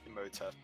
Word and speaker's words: Imhotep: The H is silent. Imhotep. Imhotep. Imhotep cleanse.